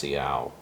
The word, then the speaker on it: Siau: north peninsula of sulawesi called seattle i believe that's how it's pronounced ciao it's s-i-a-u so we'll take a